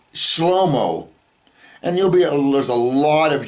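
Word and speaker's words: שלמה: And his name is not pronounced Solomon in Hebrew. Okay? His name is pronounced Shlomo.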